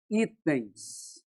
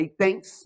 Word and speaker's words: itens: Por exemplo, a palavra itens, a sílaba forte é essa aqui, ó. Não é itens, é itens. Não tem acento nesse i.